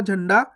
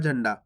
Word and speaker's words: झंडा: अब दोस्तों आपने देखा होगा झंडा इस प्रकार से भी लिखा रहता है झंडा, तो ये भी सही है, आधा आना लगे हुआ देखो, तो झंडा। या आधा आना ही बिंदी लग जाती है तो झंडा हो जाता है।